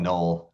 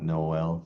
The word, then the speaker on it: Noel: Because they call him null, not Noel. Some people call him Noel. He calls himself null. So just my name is Noel. Her name is Noel. Null. It's all one syllable.